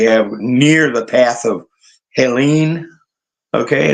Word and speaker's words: Helene: I hope any friends we have near the path of Helene. Okay, I guess that's the best way to pronounce it because of the extra E on the end. Helene, category 4.